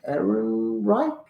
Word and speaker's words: Ehrenreich: I loved the acting by Alden Ehrenreich. Is that how Aaron you Reich, pronounce yeah, it?